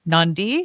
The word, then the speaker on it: NonDē: Well, it's supposed to be like a play on indie a little bit, right? But I guess I'm saying non-dependent. It doesn't quite have the ring. So tell me about NonDē.